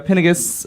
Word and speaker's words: Pinigis: We have Andrea here, Andrea Pinigis. Wait, I said it wrong now on air. You said I did. right. Okay. You said it right.